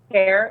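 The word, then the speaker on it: Père: Pere, it's French for father. It's missing the accent, but that's where that background comes from.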